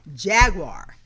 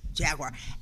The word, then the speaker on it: Jaguar: And of course, I'm going to make sure I say it right because I've already said it wrong a couple of times to Rick before the show. It is Jaguar Land Rover of Las Vegas.